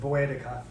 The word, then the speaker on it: Boudica: of Celtic Britain queen, Boudica, and some people pronounce it Boedica.